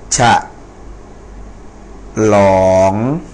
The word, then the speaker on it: ฉลอง: อะ นะ ครับ อ่า ฉะ หลอง อ่า ฉะ หลอง อ ฉลอง นะ ครับ ก็ อัน นี้ ไม่